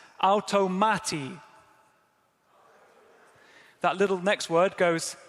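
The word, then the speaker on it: αὐτομάτη: So that first word is pronounced like this, automati.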